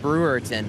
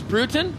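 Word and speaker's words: Brewton: You were calling it Brewerton last night. So they were some folks offended, not going to lie. So it's Bruton? Bruton, Alabama. Bruton.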